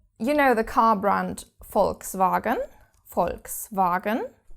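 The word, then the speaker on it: Volkswagen: Or you know the car brand Folkvagen. Folks, Varagen, you probably will have pronounced it wrong all your life, but you have to pronounce this V like an F.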